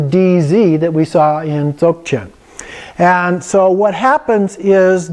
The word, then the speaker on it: Dzogchen: And the reason is that it's pronounced halfway between a G and a K. So it's Dzogchen. chin, and it's more like a stop than like a hard G. Like it's not zog chin or zok chin, but it's just a stop,